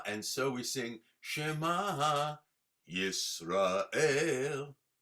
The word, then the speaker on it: Yisrael: Shema under the mem, Yisrael. If it was under the resh, it would be Yisrael, which is how most Ashkenazim pronounce it anyway. I speak Ashkephardic, Ashkenazi and Sephardic. So, my world, it revolves around both. But correctly is Yisrael, okay?